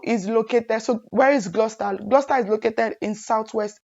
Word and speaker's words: Gloucester: Gloucester it's gloss Ester but trust me it's pronounced Gloucester okay and this school is located so where is Gloucester Gloucester is located in Southwest England and for